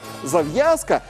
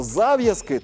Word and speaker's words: зав'язка: впоралися із цим словосполученням, тому що зав'язка, то може бути зав'язка якоїсь дії, тобто роману, зав'язка у романі, зав'язка у різноманітних творах. А от щодо зав'язки, то безпосередньо це слово з таким наголосом позначається, коли йдеться про те, про що йшлося у словосполученні.